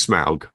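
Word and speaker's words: Smaug: little pathway and they get attacked it is smog okay SM smog if I say it wrong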